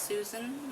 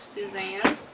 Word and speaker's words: Susan: novel by Suzanne Mallory I believe that's pronounced Susan not Suzanne she didn't know about